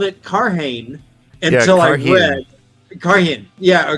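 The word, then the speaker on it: Cairhien: pronunciations in the book it does say kyen that's how I pronounce it as kyen I pronounce it differently every time I when I was reading it I called it caran until I read caran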